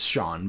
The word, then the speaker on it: Jean: to bring people together is it jean or jean i know it's probably john everybody says we say it wrong so it's shawn but john okay we have to